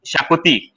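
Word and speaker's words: Xacuti: and Suraj, I remember, I tell he could not pronounce Shakoti. Okay, so he Huh. would call Zakoti, Zakoti, and we used to call him Zakoti only.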